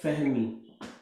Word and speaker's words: fahmi: Maybe I'm pronouncing wrongly. Galat fahmi. Oh, fahmi. Yeah, not a P sound.